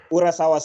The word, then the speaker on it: Urasawa: or how do you say his name sorry urasawa yeah urasawa Sensei what what what's sorry in Japanese I'm